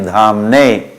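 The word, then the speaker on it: धाम्ने: One is Damne, one is Dhamne. So we should pay attention to these details and pronounce it right, and then understand it.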